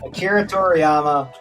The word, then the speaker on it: Akira Toriyama: Akira Toriyama. Akira. Yeah. What is it? Akira Toriyama. Akira Toriyama. Yes. Akira Toriyama, also known for Dragon Ball and Dragon Ball Z.